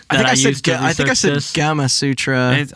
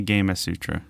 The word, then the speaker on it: Gamasutra: want to pronounce it Gamasutra I thought it was gamasutra like Kama Sutra but it is apparently game a Sutra haha he's really [